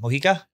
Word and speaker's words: Mojica: How do you say that name? Mojica? The J is a H. Silvana Mojica.